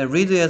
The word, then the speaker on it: read: 그 다음에, read의 3단 면시는 옆에 발음 기호 써있네요. read, red, red.